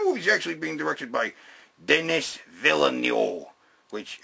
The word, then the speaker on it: Villeneuve: And the movie's actually being directed by Denis Villeneuve, which, it's how you pronounce it, right?